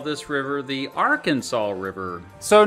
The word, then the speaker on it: Arkansas: In the 1500s, when the French arrived in North America in modern-day Kansas and Arkansas, oops, I mean Arkansas, they encountered two particular American Indian tribes.